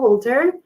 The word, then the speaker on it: Wolter: I am and I'm here with Nicole Wolter. Is that how you pronounce her last name?